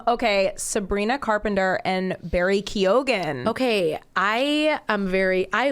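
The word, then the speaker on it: Keoghan: to pronounce that I I honestly before I thought it was Barry Kio and then I was like oh there's a gan at the end okay I yeah I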